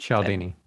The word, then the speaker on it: Cialdini: But from a marketing perspective, probably a biggest fan of like Persuasion with Robert Cialdini. I never can say it right. Cialdini.